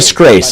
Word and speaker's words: Scrase: Everyone at the top of your screen, if you don't know, it's Andy Scrace. And by the way, I pronounced that last name correctly this time.